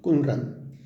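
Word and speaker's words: Qumrán: Los rollos encontrados en las cuevas de Kunran, así se pronuncia, Kunran.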